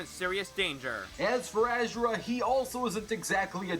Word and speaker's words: Asura: a three-way, no homo, between Broly, Asura, that's how his name is pronounced, and the Incredible Hulk.